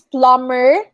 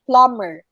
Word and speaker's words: plumber: confirmed and then it's plumber again m and b together so instead of saying plumber you say plumber silent b all right and then